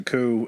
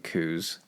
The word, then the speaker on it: coup: When you keep saying coups, vagina used to... or coups. Oh. It sounds like that. We're talking about coups. A lot of coups. I want to pronounce the P in coup so bad.